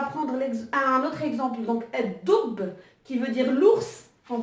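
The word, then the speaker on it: الدب: Et donc là, pareil, on voit bien que le lemme, quand on prononce doub, donc le lemme, il n'est pas prononcé.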